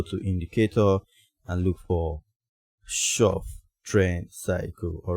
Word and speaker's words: Schaff: strategy and this time it's called the shop shop trend cycle yes it's spelt s c h a w f f c